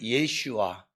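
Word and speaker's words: ישוע: 그리고 헬라어로는이 어 저 여호수아가 예수 정확하게 얘기하면 예슈아예요. 그런데 그냥 우리가 하는 것처럼 예수 제가 여기서 예슈아 그리스도 이러면 또 이제 2단 12가 붙잖아요. 근데 정확한 발음으로 예슈아.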